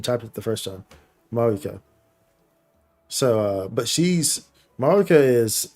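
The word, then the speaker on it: Mavuika: It's pronounced Mauvika. So like the V is more like a W sound.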